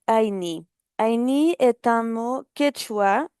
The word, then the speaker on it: Ayni: Donc le fond, comme vous le savez, la plupart de nos partenaires écrivent Aini comme A y N I. Donc la prononciation correcte est Aini.